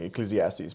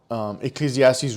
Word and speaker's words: Ecclesiastes: It's like I'll get it one day, and finally I feel like I think I pronounced it correctly, Ecclesiastes.